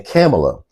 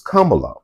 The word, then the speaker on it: Kamala: when y'all kept on calling her Cala and camela she pronounces Kamala but it's like um Franklin Roosevelt Roosevelt man